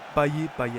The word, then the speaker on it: Payet: Donc vous pouvez prononcer les deux, hein, il n'y a pas de bon et de faux vu que il est réunionnais et à la Réunion je crois que c'est Payet et en France c'est Payet.